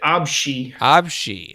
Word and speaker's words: ABC: oh abc shugyo nikki yeah they pronounce it absi okay all right thank